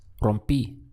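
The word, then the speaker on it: rompí: the erer ending and replaced it with that I with an accent over the top so the sound is rompy rompy how would you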